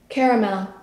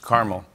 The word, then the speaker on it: caramel: Next, how do you pronounce the word at the bottom of my screen? Caramel. Yeah. You're classy, because I would have said... We're not disagreeing on much. Caramel.